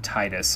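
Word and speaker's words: Tidus: the reason why I keep calling tedious from Final Fantasies ten tedious instead of titus I grew up with the Kingdom Hearts one pronunciation so I'm gonna keep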